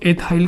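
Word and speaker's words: ethyl: एथिल की spelling ई से शुरू होती है। इसको एथाइल कहते हैं।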